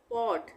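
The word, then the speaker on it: pot: बाकी जो बचे तो जब दो कॉन्सोनेंट के बीच में ओ आए तब ओ का उच्चारण औ होगा औ ओ भी नहीं होगा औ भी नहीं होगा औ होगा तो जैसे यहां पे हम समझ लेते हैं इससे पॉट ये है पी ओ टी पॉट यहां पे ये भी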